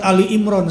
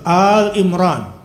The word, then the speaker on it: Al Imran: kepada Ibrahim dan Imran Jadi bukan Surat Ali Imron salah sebetulnya penyebutannya Al coba Al Imran kebanyakan bilangnya surat apa sehingga banyak anaknya namanya siapa bukan Al Imran itu pengucapan yang benar Al Artinya apa keluarga